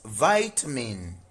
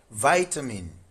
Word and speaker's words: vitamin: In US this is vitamin. Vitamin. But in UK English this is vitamin. US is vitamin. UK is vitamin.